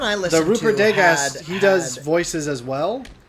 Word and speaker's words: Degas: It's the British version, and his name is Rupert Degas, or Degas. He pronounces it Degas.